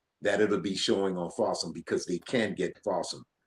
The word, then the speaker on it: Folsom: For the folks out there who've never heard of Folsom, it's spelled awesome with an F in front of it.